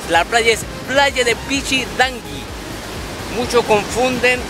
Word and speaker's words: Pichidangui: Cuando vienen a este lugar dicen, fui a la playa de Pichidanqui, con R, no señores, la playa es playa de Pichidanqui.